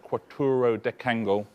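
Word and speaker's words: quattuordecangle: Quattro decangle. That's how you pronounce that, quattro decangle.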